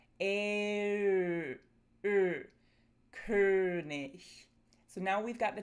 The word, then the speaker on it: König: If you're having trouble producing this sound, start with A and then round your lips and make everything really tense. A uh uh König So, now we've got the tense version.